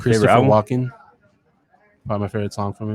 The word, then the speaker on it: Walken: Walken. Probably my favorite song from him. You say walking, Christopher Walken. That's the name of an actor.